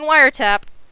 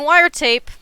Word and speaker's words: wiretap: to this conversation I I'm saying wiretap I am not seeing wire tape like I did throughout the whole video of the last one saying it correctly that's how you knew